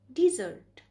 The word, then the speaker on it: dessert: If we call this word as desert, then it means by Registan. But here we use this word as a sweet which we take after meal. So the right pronunciation of this word is dessert.